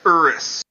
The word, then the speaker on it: Urus: Is that the Urus? Yeah. And then you got the Porsche. That's actually pronounced Urus.